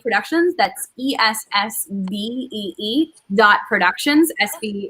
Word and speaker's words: S-B: that's e-s-s-v-e-e dot productions sv is how my name sounds phonetically my last name um and you can